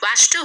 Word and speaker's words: Wachter: bless myth washed her who was there it's pronounced as ratchet wachter who was there with his apprentice apprentice is